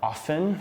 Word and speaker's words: often: also Christmas we've got often which is a word you'll have to say quite often and hear quite often but the T is silent and you'll probably hear